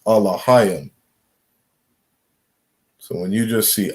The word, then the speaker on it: Elohim: They would say Elohim, right? We understand the correct pronunciation is Alahayim.